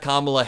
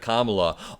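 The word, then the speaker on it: Kamala: Donald Trump's nickname comrade kamla only works if you pronounce kamla's name correctly because of the alliterative first syllable comrade comma com com where he says comrade Cala it just doesn't really make sense in the same way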